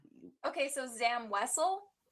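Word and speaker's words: Wesell: So, Zam Wessle, that's what I was like, it's kind of a we bean this point to the ground.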